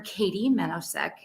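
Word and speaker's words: Katy Menousek: did i oh so my name is dr katie menosec and it's spelled well k-a-t-y uh last name is m-e-n-o-u-s-e-k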